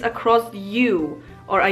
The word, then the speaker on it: ó: It's pronounced exactly the same as the Polish letter U, which is U.